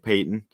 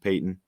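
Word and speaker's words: Paton: new general manager george payton uh looks like patton but i believe it's pronounced payton um his first four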